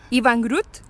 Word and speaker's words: Iwan Groot: Y aquí estamos con un fotógrafo que se llama Iwan Groot.